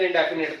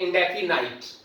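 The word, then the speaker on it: indefinite: Present ਇੰਡੈਫੀਨਿਟ ਤੋਂ। ਤੇ ਆਓ ਆਪਾਂ ਸਟਾਰਟ ਕਰਦੇ ਹਾਂ ਬੇਟੇ ਪ੍ਰੈਜ਼ੈਂਟ ਇੰਡੈਫੀਨਿਟ। बेटे इंग्लिश प्रोनाउंसिएशन ਦੇ ਵਿੱਚ ਇਟ ਇਜ਼ ਪ੍ਰੈਜ਼ੈਂਟ ਇੰਡੈਫੀਨਾਈਟ, ਪ੍ਰੈਜ਼ੈਂਟ ਇੰਡੈਫੀਨਾਈਟ। ਤਾਂ ਤੁਸੀਂ ਪ੍ਰੈਜ਼ੈਂਟ ਇੰਡੈਫੀਨਾਈਟ ਵੀ ਬੋਲ ਸਕਦੇ ਹੋ, ਪ੍ਰੈਜ਼ੈਂਟ ਇੰਡੈਫੀਨੇਟ ਲਾਈਕ ਪੰਜਾਬੀ,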